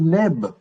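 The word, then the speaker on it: nb: En rajoutant la voyelle E, essentiellement, Ça fait Neb. c'est Neb, tout à fait.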